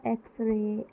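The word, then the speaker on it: X-ray: इसी तरह एक्सरे, Xmas लिखा जाता है कॉन्सोनेंट से, बट आवाज़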